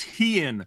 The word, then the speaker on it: Hean: I know you'll try to pronounce it again, so it's Hean. 1 syllable, like he in big trouble, unless you pick a quarterback, Stafford or Mahomes.